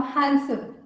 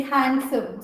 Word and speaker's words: handsome: Now handsome. I hear people say handsome. So they use the D, but D is silent.